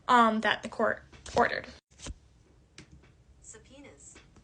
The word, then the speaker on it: subpoenas: that the court ordered subpoenas that's the pronunciation of s u b p o e n a s which isn't a bolded word but I did butcher the pronunciation so I thought you